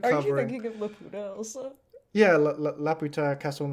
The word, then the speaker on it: Laputa: It's literally spelled like that. Laputa.